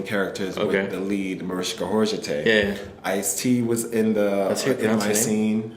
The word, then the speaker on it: Mariska Hargitay: Lord yeah something I never knew how to pronounce your name yeah Mariska Hargitay yeah that's how you pronounce it it was